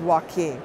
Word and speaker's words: Joaquin: So you may hear Joaquin, Joaquin, but we've been told that it really is Joaquin.